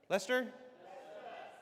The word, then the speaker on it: Leicester: How do you say is that Lester? Lester. Lester.